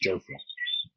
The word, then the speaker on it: Jofra: He's corrected us on the pronunciation of his name. It's Jofra.